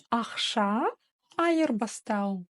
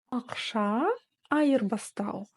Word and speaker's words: ақша айырбастау: Да-да-да, алгоритм остается прежний, как пишется, так и читается. Ни одна буква не искажается, и каждое слово делится по слогам.